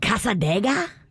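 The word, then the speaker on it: Cassadaga: it's at a cemetery you're saying it wrong you say it like this the devil's chair it's called casadega yeah mm-hmm yeah so i'll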